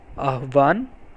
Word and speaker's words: আহ্বান: আহ্বান, আহ্বানের উচ্চারণ আসলে হচ্ছে আহ্বান।